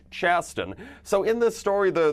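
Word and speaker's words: Chasten: Pete and his husband I believe it's pronounced Chaston so in this story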